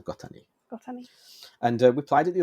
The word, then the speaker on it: Gota2: So it's spelled Gota2, but 2 in Japanese is ni. Yeah. So Gotani.